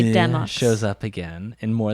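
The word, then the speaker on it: Demoux: Brandon says that I can pronounce it any way that I want. So I choose to say Demux.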